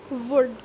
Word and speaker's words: would: Could, calm, half, should, talk, palm, would. So same is the case with silent L. In all these words I am not pronouncing the letter L.